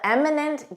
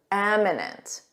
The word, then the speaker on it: eminent: The arrival of the eminent guest was announced. Eminent with an e. Notice that pronunciation. Em. Eminent.